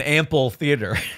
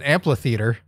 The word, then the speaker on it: amphitheater: That's an amphitheater. Amphitheater. Amphitheater. You have to really pronounce the PH.